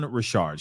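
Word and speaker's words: Richard: Don Dawn Rashard okay I was saying her name her last name wrong so I apologize but it's Dawn Rashard she was part of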